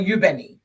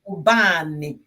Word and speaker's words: Ubani: My name is not Ubeni. My name is Ubani. Ubani.